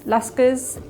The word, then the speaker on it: لشکر: the 19th century as lascars. It was a term that was used predominantly at the time. The word comes from the Persian language, lascar, it's spelled lam, sheen, kaf, ra. And again, the word made